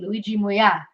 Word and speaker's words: Luigi Muia: Luigi Muia.